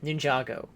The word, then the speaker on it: Ninjago: the example like um Ninjago which I was surprised by her pronunciation of all these terms ninjo cuz she actually said Ninjago in that pronunciation in the pronunciation I'm I am saying right now okay I'm let's go